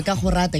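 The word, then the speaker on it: ke a go rata: Yeah, kahorata. You just learn how to say it. Kahorata. Those rolling R's. Okay, you can just roll your R. Ka, hu, rata. Rata.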